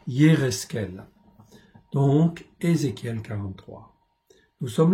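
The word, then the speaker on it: יחזקאל: Ézéchiel 43, Yérezkel, en fait en hébreu, c'est pas toujours facile à prononcer, Yérezkel.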